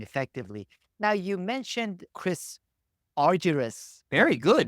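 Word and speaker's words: Argyris: other and communicating effectively now you mentioned Chris arus very good not many people manage to pronounce it right yes he he has had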